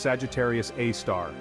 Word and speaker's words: Sagittarius A*: ious and Powerful object known as Sagittarius A asterisk pronounced Sagittarius AAR it's a super massive